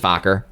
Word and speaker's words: Fokker: But no, it's just Fokker.